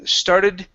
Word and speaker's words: started: quick question on started the T sounds like a d yeah so the the T at the end of the word hang is is what's called a flap t Okay so there there